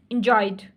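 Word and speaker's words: enjoyed: light T T tried tried D एंजॉयड डी ठीक है तो ये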